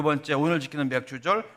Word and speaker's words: 맥추절: 말씀드렸지요 그래서 맥추절 있니다 여러분 발음 잘하셔야 돼요 맥추절 이니다 어떤 분들은 맥 예 그렇게 얘기하던데 발음 잘하십시오 예 이러 맥추절을 지키면서